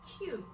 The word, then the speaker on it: queue: What is the point of wasting 4 letters if they're going to be pronounced as the first letter? Q.